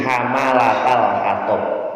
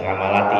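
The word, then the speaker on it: حمالة الحطب: Wa tu'jaju narul fitnah wa tuthiru harban sya'wa 'ala Nabi sallallahu alaihi wasallam walidzalika wasafahal Qur'an bi hamalatal khatab. Ya, ini bacanya bukan hamalati ya. Namanya hamalatal khatab itu ayat Quran.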